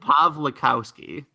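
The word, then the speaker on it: Pawlikowski: Pavlich house key okay you don't pronounce w s-- really I guess it's like Rachel Weisz or manic yeah they're V's yeah it just looks like a W cuz you know I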